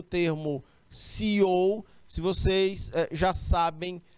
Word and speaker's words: CEO: em marca texto preto, esse termo CEO, ele escreve assim, viu? Cell, né? O cell ou CEO, se a gente for pronunciar a partir do inglês.